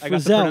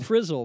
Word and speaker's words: Frizzell: It's Frizzell, not Frizzle, but okay.